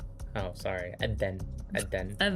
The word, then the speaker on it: Adhan: Adhan. Adhan. Adhan. Adhan. That's just how it's spelled.